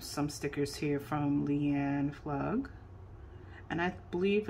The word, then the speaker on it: Pflug: We have some stickers here from Leanne Flug. And I believe it's Flug or Flug. I think the P is silent.